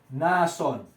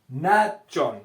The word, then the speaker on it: Nachón: Nazón significa encantador, y Nachón se escribe Natshon. Esto es lo que aparece en su Biblia. Ahí en su Biblia aparece así: Nazón. Ya, el nombre es Nachón.